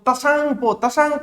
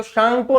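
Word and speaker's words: Tsangpo: अब यदि पढ़े अपन इसको तो तसांगपो पढ़ा नहीं जाता, आधा तक बोलना है, तसांगपो बोलना नहीं है, आधा तत्सांगपो तो बोला ही नहीं जाता, साइलेंट रहता है। ठीक है, तो शांगपो नदी के नाम से जाना जाता है इसे।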